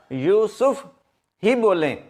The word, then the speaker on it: یوسف: یہ جو لفظ ہے اس کے یہ کے اوپر بھی پیش ہے اور سین کے اوپر بھی پیش ہے، یوسف۔ تو اس کا جو تلفظ ہے آئندہ سے آپ یوسف ہی بولیں، YOOSOF، یوسف۔ اچھا جی، اگلا لفظ